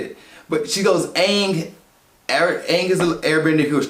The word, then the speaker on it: Aang: narrating the movie, and she's saying, she said Ong, she says his name twice, Ong, but she goes, Ong, god dang it, I don't want her to say it like she said it, but she goes, Aang is an airbender who was trapped in the